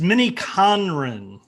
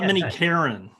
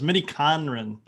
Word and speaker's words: miniKanren: it today which i i know i never pronounced the name right so it's mini conran conrad is japanese for relation oh oh nice okay i didn't know that it's not minnie karen everyone says minnie karen it's minnie conron yeah